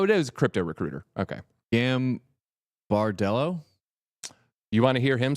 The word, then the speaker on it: Gambardello: Dan Gambardello. You got it right, TJ. Hey. Gambardello.